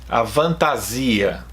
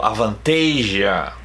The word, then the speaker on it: Avantasia: So here people that doesn't speak English would say a fantasia, but we know the band, so it's called Avantasia.